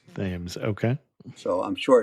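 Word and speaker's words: Thames: h m Cs and in Newport it's pronounced themes themes okay so I'm sure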